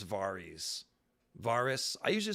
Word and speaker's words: Varys: do you pronounce varys varus i usually say varys myself varus is kind of weird varys this doesn't sound like a name varies sounds like a name so yeah melis that's